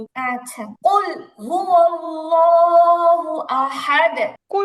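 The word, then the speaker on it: قل: রাহিম রাহিম আচ্ছা কুলহু আল্লাহু আহাদ আচ্ছা প্রথমত শব্দটা হচ্ছে কুল কেমন কফ লাম পেশ কুল কফে কুল ওকে এবার এবার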